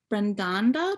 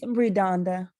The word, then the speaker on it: Redonda: say your name wrong brendanda did i say that right did i say that correctly you are the winner of the kenda titan yeah it's redonda redonda redonda you are the winner